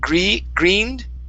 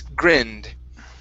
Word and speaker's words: grinned: This is a short I sound. Instead of greened, it's grinned. Grinned. Grinned. Okay, now give me a D sound. You're pronouncing a T at the very end. The ED ending should be a D.